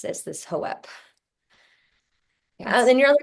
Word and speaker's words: Hope: And during the animal reading, my horse Hope was saying, she's the one that said it's pronounced as Hoep.